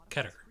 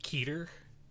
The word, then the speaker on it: Keter: going around SCP internet about how to pronounce Qatar and I guess some people are pronouncing it keter that's very wrong no it's ketter because it's just right there it's ketter though I did so